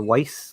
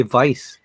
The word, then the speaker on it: Weiss: Clayton's wearing his Vice or Weiss ultralight because he is American, not German. I always want to say Vice because German pronunciation, but I don't think